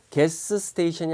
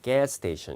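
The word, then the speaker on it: gas station: 에 정답이 되겠는데 자 같은 소리는 한 번만 발음을 해요 그러니까 개 스테이션이 아니라 게 스테이션 이렇게 발음 하는 거고 어 영어 표현의 b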